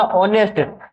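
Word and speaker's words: honest: आएगा और ऑनेस्ट lady ऑनेस्ट ध्यान रखना ऑनेस्ट ऑनेस्ट यहां पर एस जो है साइलेंट रहता है तो ऑनेस्ट यानी कि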